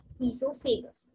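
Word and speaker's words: oesophagus: pronouncing these of fables the o is silent and but we say it as he's so famous so sorry it is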